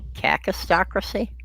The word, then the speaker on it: kakistocracy: Cacistocracy? Yeah. I have not heard that term before. What exactly does that mean? It is, in fact, a term. It's spelled Kakistocracy, and it's pronounced cacistocracy, and it means, literally,